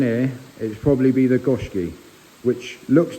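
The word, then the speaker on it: Goshiki: like a kowaku but it is a gooski a what a gooski I just call it a fish love if you want just a fish stunning look that's how you say it yeah say it again Goki yeah gooski yeah if I was to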